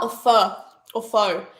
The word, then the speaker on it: pho: add salmon and mashed potatoes yum is it far or fur or Foe it's pronounced fur I'm pretty sure and it's p-h-o that confused